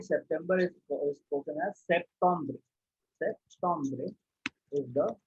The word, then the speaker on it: septembre: Then this is called September is spoken as Septembre. Septembre is the pronunciation.